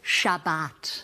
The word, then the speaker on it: Shabbat: Might as well get Shabas Castbound. We pronounce it Shabbat.